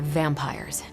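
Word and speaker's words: Vampyres: The new breed I'm tracking are uh they're vampires. I see. No, I do not. You already said they were vampires. Vampires with a Y. pronounced exactly the same as vampires.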